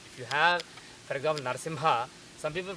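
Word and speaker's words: नरसिंह: If you have, for example, Narsimha, some people pronounce it as Narsingha. That is because they are not dropping ga. So the correct pronunciation is almost like singha, except that you should drop the ga.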